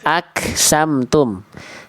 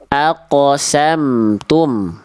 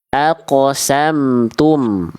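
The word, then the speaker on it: أقسمتم: Aksamtum itu kaf harusnya qof. Aqsamtum. Aqsamtum.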